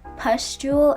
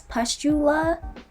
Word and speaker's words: pustule: in my video so i accidentally pronounced pustule as pustula i don't even know how